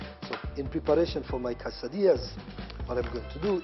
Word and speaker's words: quesadilla: Now, in Latino or in Latin, the double L's, whenever you have double L, is not pronounced as L.